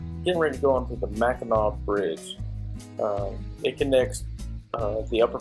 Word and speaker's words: Mackinac: see that we're in Ridge going through the Mackinac Bridge it connects the Upper Peninsula the loafing